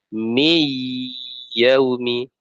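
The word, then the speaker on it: مِنْ يَوْمِ: Misalnya min yaumi misalnya. Kita bacanya mi yaumi, mi yaumi.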